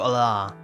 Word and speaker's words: Allah: If you're wondering how to say it, it's like alarm. So Allah.